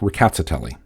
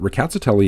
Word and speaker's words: Rkatsiteli: speakers saying the word it does sound like there's an R at the beginning though it's very lightly pronounced as well as slightly rolled so something like ricotta telly and that's the pronunciation